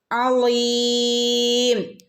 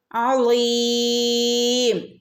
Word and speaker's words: عظيم: Okay, ഹിൻസിൽ, ഹിൻസിൽ അളീം, അളീം അയിനാണ് തൊണ്ടേൻ്റെ നടുക്കുന്ന് വരണം കേട്ടോ. അളീം, അളീം.